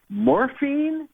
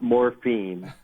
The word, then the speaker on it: Morphin: I'm like, morphine or morphin? Or how do you say it again? And they went, morphin, not morphine, drug.